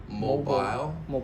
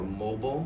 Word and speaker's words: mobile: Now some of you maybe have heard mobile or mobile mobile. Both pronunciations are correct. Mobile is American English and mobile is British English.